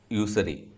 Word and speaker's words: usury: The connection between money changers and usury. Is it usury? It's usury, right? USURY. Is it usury or usury?